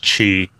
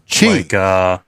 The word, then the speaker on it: Qi: Yeah, it's pronounced chi. Chi. Like the energy inside the body. Yeah, chi. Even though it's spelled Q-I.